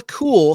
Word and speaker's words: Kuehl: the actress's name is Sheila cool spelled with a K KU HL and she played Zelda